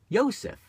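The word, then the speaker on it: יוסף: Now in Hebrew, the letter J is pronounced like a Y. In Spanish, it's like an H. We'll say Jose, or Joseph would be a Spanish more pronunciation. Yosef.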